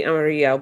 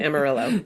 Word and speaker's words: Amarillo: So, actually the Spanish pronunciation would be Amario, but Texans pronounce it Amarillo.